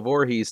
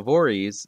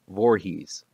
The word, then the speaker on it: Voorhees: popularly pronounced the stressor is on the first syllable four rather than the last one he's so it's four e's not voorhees which is how i've